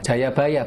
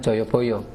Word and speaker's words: Jayabaya: Cara bacanya Jayabaya bukan Joyoboyo. Kertanegara bukan Kertanegara.